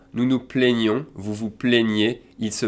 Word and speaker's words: plaignez: So we go from vous vous plaignez, in terms of useful pronouns again, vous vous plaignez, I accent aigu.